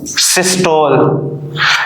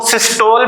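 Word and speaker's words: systole: नाम देते हैं वेंट्रिकुलर सिस्टोल। इसको सिस्टोल भी पढ़ सकते हैं आप, सिस्टोली भी पढ़ सकते हैं, दोनों ही करेक्ट है इसकी प्रोनाउंसिएशन।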